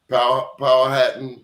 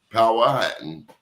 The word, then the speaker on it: Powhatan: You're either Saponi, Powhatan, and he corrected me, Powhatan, or Cherokee in Virginia.